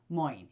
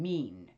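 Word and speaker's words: Mein: is it comes with face moin if I'm saying it right m-e-i-n mean it's a German word for face again in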